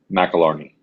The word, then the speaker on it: McAlarney: pronounce your last name what's the appropriate uh pronunciation of your last name mcilarney all right so we'll go with that and